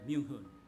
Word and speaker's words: Myoung Ho: So it should be connected, yeah, Myoung Hoon. The family name is, and then the name is Myoung Hoon.